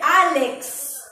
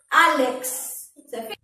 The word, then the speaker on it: Álex: pues el pre nombre álex miren a este sonido de la equis no tiene una vocal adelante pero se pronuncia completo su sonido aunque no tenga una